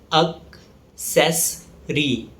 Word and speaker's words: accessory: It's pronounced as accessory. The stress falls on the second syllable, ses.